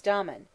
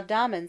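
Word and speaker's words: Damon: most writers state was Domon whose name they say should be pronounced with the first syllable short but Aristotle says he had a thorough musical training at the hands of pithy ladies now Domon seems to have been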